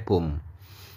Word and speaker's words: poem: ya syair atau puisi poem P bacanya pom gitu guys Nomor duanya resturant